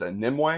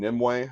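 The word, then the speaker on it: Nimue: thing up next is nimway I believe that's how you say her name nimway she is Merlin's Priestess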